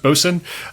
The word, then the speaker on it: boatswain: You have the ship's mate, William Blake, the ship's boatswain, or spelled boatswain, but pronounced boatswain, John Shaw, and you have 3 able-bodied sailors who were recruited in Barbados to serve on board the ship.